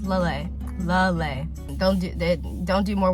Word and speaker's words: Lelei: mean one person on how to pronounce that but it's lay lay don't do don't do